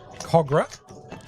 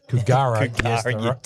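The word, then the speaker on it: Kogarah: George Leagues Club 124 Princess Highway Cogra. I think I pronounced it Kugar yesterday because I've never been here before.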